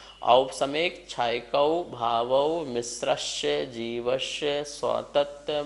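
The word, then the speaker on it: औपशमिक: सब में औ लगा है, इस बात का ध्यान रखेंगे। ओ नहीं है, औ है। औपसमिक, छायकौ, भावौ, मिश्रस्य, जीवस्य, स्वतत्व, मौदयिक, पारिणामिकौ च।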